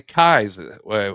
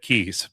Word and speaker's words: Kyes: Yeah, I feel like I've heard them say Kyes. Last episode, I definitely said Keys, but yeah, I mean, I just assumed that's how it was pronounced. Kyes is how it's spelled. So Kyes, I guess, makes sense, but I guess we were saying it wrong.